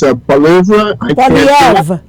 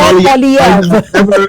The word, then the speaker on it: Poilievre: I'm trying to pronounce the name of the Conservative candidate, and it's Pierre. It's Poilievre. Pierre Poilievre.